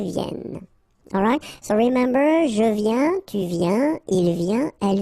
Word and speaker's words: viens: Je viens. Final S not pronounced, okay? When you combine this IEN, you get this yen, yen.